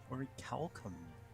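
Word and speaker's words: orichalcum: out of ory chalum pluses ory Calum the hard c a made up metal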